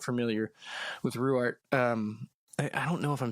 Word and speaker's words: Ruwart: Yes, yeah, She's Ruwart.